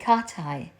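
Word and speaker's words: Cathie: Beach, which stretches to Lake Katai, but it is spelled like Lake Cathy.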